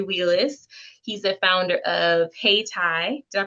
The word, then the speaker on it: Hayti: He's the founder of Hey Thai. Did I pronounce that correctly? Hey Tai, you did.